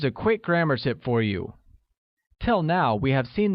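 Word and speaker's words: 鱼: who tell you we're fish becomes you and is pronounced with the mid rising tone great note that in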